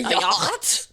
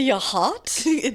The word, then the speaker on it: yacht: A yacht. A yacht. A yot. Why does it Why is it spelled like that? I don't know. English is weird.